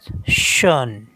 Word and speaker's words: schön: Next one is here O umlaut, and in normal it is pronounced O. Schon. Schon means already, but with umlaut it is pronounced as schön.